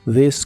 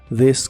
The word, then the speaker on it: this: coche o este carro la th de This se pronuncia como una d vibrante this car this car y usaremos las